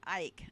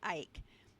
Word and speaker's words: Icke: I don't know how David Icke pronounces it, but it was not originally pronounced Ike. It was ick as in icky, rhyming with sick and dick.